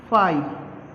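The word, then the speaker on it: phi: फाई, PHAI, ठीक है।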